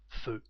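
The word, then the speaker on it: feux: We say feu with an additional X, but no the same pronunciation, feu.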